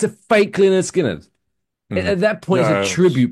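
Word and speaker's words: Lynyrd Skynyrd: The title of the album was quote pronounced Leonard Skinnard. Like they what's the word? Um where you spell it how it sounds phonetically. They phonetically spelled the band name.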